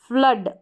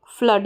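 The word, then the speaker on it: flood: तो touch, फ्लड, double O को भी, डबल ओ को ऊ भी पढ़ते हैं, भी पढ़ते हैं। यहाँ पर है फ्लड, इसको फ्लूड नहीं पढ़ेंगे, फ्लूड नहीं, फ्लूड नहीं पढ़ेंगे, तो फ्लड हो गया, ठीक है।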